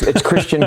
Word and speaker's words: Kristian: Because I told you I'm horrible at pronouncing these, pronunciating these things. It's fine, man. It's Kristian Krempell.